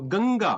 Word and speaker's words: Ganga: It's not anga. So there's difference between people pronounce in Hindi and in Sanskrit. So I am from Hindi background, so I have this bad habit of call it anga, but that's not anga. That's unga. Unga.